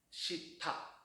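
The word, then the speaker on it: した: 그래서 공장 시다 해야 되는데 이게 우리나라식으로 발음이 된 거죠. 시타, 타니까 우리는 디귿이 많을까요? 티귿이 많을까요? 디귿이 좀 더 많잖아요.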